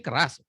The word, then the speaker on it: Keras: No, that's why ini keras. No, Pak, you pronounce it keras. Okay, now we know. Just like Batak, keras bah, gitu ya. Just like so you pronounce just like orang Batak, keras.